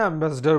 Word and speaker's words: ambassador: वैसे आप इसको ऐसे भी ड्रिल कर सकते हैं कि अम्बेसाडोर, और फिर आप इसको प्रोनाउंस करते समय एम्बेसडर बोलिए।